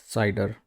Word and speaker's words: CIDR: discuss classless interdomain routing or cidr and it's pronounced cider and it's also called